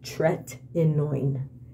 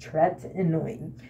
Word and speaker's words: tretinoin: the tretinoin burn and the way you pronounced tretman is tretinoin that is how it is pronounced Tourette annoying it is in a